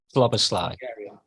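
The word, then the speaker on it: Szoboszlai: Sloboslai.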